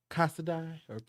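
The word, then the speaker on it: Casadei: them shoes um and i just learned how to pronounce this brand today because i've always um struggle with their name and it's casada oh yeah yeah that's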